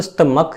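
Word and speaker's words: stomach: लेकिन अगर मैं बोल स्टमक या स्टुमक तो यहाँ पे सी एच का उच्चारण क्या निकला, का।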